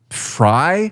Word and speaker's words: Frey: That's the mayor of Minneapolis, Jacob Fry, apparently is how you say his last name. There's no reason that F re should say Fry in my opinion.